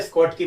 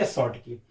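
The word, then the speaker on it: Schottky: शॉर्ट की defect, कुछ लोग इसे प्यार से स्कॉट की बोलते हैं क्योंकि सी साइलेंट है, इस वजह से हम लोग क्या बोलेंगे? शॉर्ट की।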